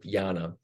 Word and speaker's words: jnana: It's spelled J-N-A-N, but jnana.